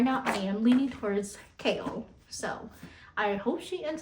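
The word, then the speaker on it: Chaol: Chow? No, simply Kale. Kale. Okay. So it's not Chow, Kale. Okay, that sounds way better than Chow, honestly. So right now I am leaning towards Kale.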